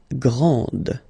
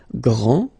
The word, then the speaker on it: grand: exactly the same thing this final D is not pronounced okay so Grand and then the feminine